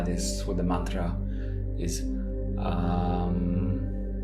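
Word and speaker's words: aum: the Mantra is um so it's spelled a u m and it's the a starts in the mouth the U begins in the throat and the m m Ates from the region of the chest so taking a breath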